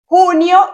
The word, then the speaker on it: junio: Junio y Julio, June and July. So June and July, you're gonna change the J with an H, so you have the correct pronunciation in Spanish.